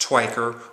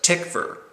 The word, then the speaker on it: Tykwer: the story of murder his name is not pronounced twiker or tiger or tiger but tickfer ticker is how you pronounce his last name